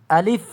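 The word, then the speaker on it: ألف: আলিফ একটু দ্রুত উচ্চারণ হবে। আলিফ এবং মুখ থেকে একটু হাওয়া বের হবে। বাতাসের মত বের হবে।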